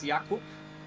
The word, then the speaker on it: Jakub: say your name uh in Polish it's Jacob and it's in English it's Jacob cool when people say